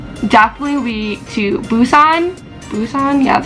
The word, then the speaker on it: Busan: Busan, yeah, that's how you say it.